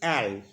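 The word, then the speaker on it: elles: और अगर फीमेल का ग्रुप है, कहीं पे बहुत सारे फीमेल हैं, तो वहाँ पे हम बोलेंगे एल, ELLS, एल। स्पेलिंग अलग है लेकिन प्रोनाउंसिएशन सेम है।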